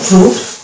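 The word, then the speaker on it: fruit: অনুরূপভাবে এই যে এটা হচ্ছে ফ্রুট, এই যে ফ্রুট বলি, ফ্রুট মানে ফল, এই যে ফ্রুট, এই জায়গাটাতে কিন্তু আমরা দেখতে পাচ্ছি আই সাইলেন্স হচ্ছে না, মানে সাইলেন্স থাকছে এই জায়গাটাতে।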